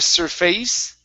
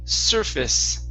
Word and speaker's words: surface: This word here, instead of surface, okay, this is surface with a short I sound.